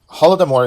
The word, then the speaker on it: Holodomor: Holodomor is the Ukrainian pronunciation of what Russians would say Golodomor. But essentially, this is the letter H or G, was a famine that happened during Stalin's time, during the Great Collectivization.